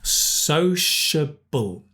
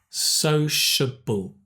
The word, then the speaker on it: sociable: And this is the difficult one. Sociable. Sociable. But society. Society.